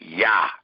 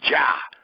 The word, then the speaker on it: Yah: In many of your scriptures, you seen the word Jah. A J was added to not allow you to call upon his name, to not allow you to pronounce his name.